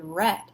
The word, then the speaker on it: read: I read a book however if I was saying I read a book yesterday right I would say the word read not the color red but just the past tense of read and you want to